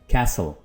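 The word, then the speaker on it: castle: से बोला जाता है कैसल, कैसल. कैसल का मतलब महल. और ब्रिटिश इंग्लिश में इसको यूं बोला जाता है कासल, कासल. इसमें टी को प्रोनाउंस नहीं करेंगे, दोनों तरह से ही.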